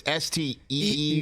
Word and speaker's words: Steeve: So it's Steeve. Yes, and his last name is Hoyufat. Hoyufat. Are you sure that's how that's pronounced?